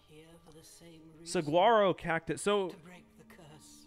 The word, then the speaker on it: Saguaro: for the same reason Saguaro CA it so break curse yeah Saro and that is how you say it Saro um no I